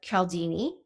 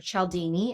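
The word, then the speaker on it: Cialdini: are influenced by Robert caldini or chaldini is how you pronounce it and Chris Voss never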